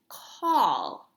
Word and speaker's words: call: call good nice job we do not pronounce this word with the s sound or the c with